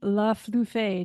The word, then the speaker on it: LeFlufy: And your name is LeFlufy. Do I say it right? LeFlufy is how it's pronounced. LeFlufy.